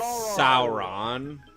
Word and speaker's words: Sauron: it right I'm sorry it's Sauron say soar and then on Sauron Goron Sauron there we